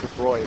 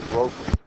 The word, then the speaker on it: de Broglie: de Bry turned along pronounced de Bry but looks like the brok comes along and says